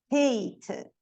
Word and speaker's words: hate: For example, por exemplo, hat, hate.